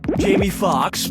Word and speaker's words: Jamie Foxx: Jamie Foxx, Jamie Foxx, Jamie Foxx, or Jamie Foxx? Jamie Foxx's last name has 2 X's in it. The first X is silent.